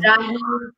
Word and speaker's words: Raheen: Am I pronouncing it correctly? Raheen Yes, you did.